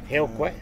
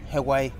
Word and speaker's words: heo quay: Heo quay. Heo quay.